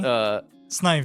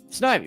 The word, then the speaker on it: Snivy: Snivy. Yeah, Snivy, right?